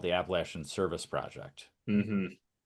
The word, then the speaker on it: Appalachia: Appalachia. Appalachia. You better pronounce it right. Yep. Appalachia. How do you say it, Jared? Like, like you throw an apple at you.